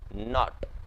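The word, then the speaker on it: knot: गांठ बांधने को हम इंग्लिश में कहेंगे नोट हम कहेंगे नोट यहां पर ध्यान रखिएगा की ये जो है आपका वो साइलेंट है तो यहां पर बहाने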